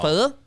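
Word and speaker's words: phở: No, pho. It's pho. It's not even. Oh, it's pho. Yeah, you got to say it right.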